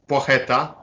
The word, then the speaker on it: Placheta: from Norfolk, it's kind of the worst thing pronunciation. So how do we get his name right? so yeah, his surname is Placheta, Poix, like in French, Poix, like Poitiers.